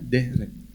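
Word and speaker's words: דרך: Ibrani adalah derek bahasa tulisannya derek bacanya derek ini apa dari Ini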